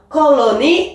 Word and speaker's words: colony: Et dans ce cas, l'accent est sur la première syllabe. Regarde, colony, hop, 3 syllabes. Colony.